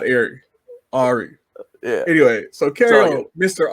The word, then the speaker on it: Arie: little background of who arie is well just like you and everyone else everyone pronounces my first name wrong too ari oh it's ari i've been doing this